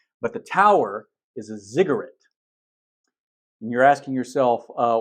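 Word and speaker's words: ziggurat: remember what it so pretend you're saying cigarette and then change the the C to a z you get zigarette it's a little bit different pronunciation but it's easier to remember that way so this is a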